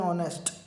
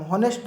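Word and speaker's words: honest: है, तो यहाँ पे ऑनेस्ट पढ़ते हैं हम, हॉनेस्ट नहीं पढ़ते हैं, ठीक है। यहाँ पे हॉनेस्ट नहीं पढ़ते, इसको हम पढ़ते हैं ऑनेस्ट, तो यहाँ पे एच जो है वो साइलेंट लेटर होगा, ठीक है।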